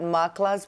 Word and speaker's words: MACLA: you if you want to know more about makala's programs all you have to do is log